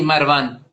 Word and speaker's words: Marwan: Sí, Marwan.